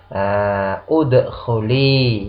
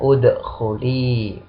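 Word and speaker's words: اُدْخُلِي: Bacanya gimana? Udkhuli ya, udkhuli. Ya-nya ini karena muannas ya. Udkhuli. Jadi kalau kita tasrifkan udkhul, udkhula, udkhulu, udkhuli ya untuk muannas, maka udkhuli di sini ya.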